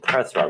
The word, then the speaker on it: Perthro: is is perro the run is actually called perthro that's the way it's actually pronounced um it's not how it's spelled but